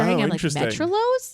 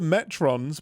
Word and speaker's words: Metrons: it I was WR metros metros no it's the metrons but and and that's